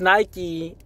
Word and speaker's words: Nike: Greek goddess Nik uh Nikki right but it's pronounced Nike in in any language outside of Greek so